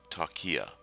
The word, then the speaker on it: Talkia: reach tokya at www the software is pronounced talkia as you would expect